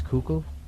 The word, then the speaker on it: Kukl: I think it's Kukl. Yeah, cook.